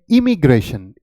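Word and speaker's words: immigration: इसकी प्रोनाउंसिएशन है इमिग्रेशन, इमिग्रेशन, इमिग्रेशन, आप ऐसे कहेंगे। और मैं आपको पहले ये एक्सप्लेन कर देता हूं। तो इसमें आई जो है, आप हमेशा आपने इंक में जैसे आप यूज करते हैं आई की प्रोनाउंसिएशन, उसी तरीके से आप यहां पे करेंगे, और इसकी प्रोनाउंसिएशन क्या हो जाएगी? इमिग्रेशन, okay.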